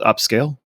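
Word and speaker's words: Upscayl: you can also use up scale um upscale spelled like s c a y l it's a free open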